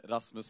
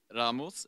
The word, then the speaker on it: Rasmus: I want to start by saying that my name is Rasmus, not Ramos, but it's okay because it's basically only the Swedish and the Danes who know how to pronounce it.